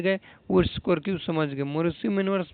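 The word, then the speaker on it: Mauriceau: इस मैन्युअर्स का नाम है मोरिसू मैन्युअर्स। क्या नाम है, मोरिसू मैन्युअर्स। इसको हम लोग पढ़ते हैं, प्रोनाउंसिएशन करते हैं मोरिसी मैन्युअर्स।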